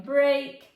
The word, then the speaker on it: break: It's spelled like briak which is crazy because usually e a says e or e but in break it's saying a.